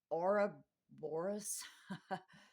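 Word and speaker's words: ouroboros: why the worm Moon eats its tail the Ora Boris o u r o b o r o s I'm going to spell it in case I didn't pronounce it right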